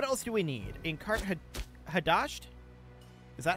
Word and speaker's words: Hadasht: In Hadasht? Is that how we pronounce that? Hadasht.